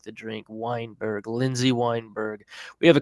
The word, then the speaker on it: Weinberg: NE b r g you know usually it's we i n but this is wine as in like the drink Weinberg Lindsay Weinberg we have